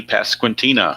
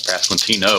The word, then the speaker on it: Pasquantino: And now here comes Vinnie Pasquantina or Pasquantino I guess it's pronounced. Keep want to put a a on the end of it.